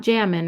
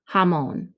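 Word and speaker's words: jamón: el jamon el jamon don't forget the accent mark it's not jammin remember the j sounds like ha jamon las chuletos de serdo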